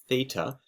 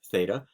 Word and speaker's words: theta: these funny-looking symbols here you pronounce that as theta it's the Greek letter theta and it's just kind